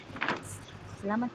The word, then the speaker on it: Selamat: Selamat pagi. Good. Would you like to try? Which one? this one. Oke. Eh, salamat. Eh, oke salamat, Kakin Rinji. Yes. Selamat pagi.